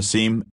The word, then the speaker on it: SIEM: CISM, pronounced SIM or SIEM, system collects and analyzes log data from many or all systems in an organization.